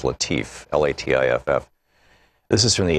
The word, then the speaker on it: Latiff: Our book today is Future War, Preparing for the New Global Battlefield by Robert, I believe it's pronounced Latiff, L-A-T-I-F-F.